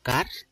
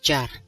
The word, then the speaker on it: char: Bien évidemment, ça ne se prononce pas char. Je francise, je ne sais pas si ce mot existe. Il se prononce char.